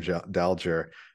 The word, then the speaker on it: Dalger: I think it's uh the soft the soft G Tim dalger it's like that's that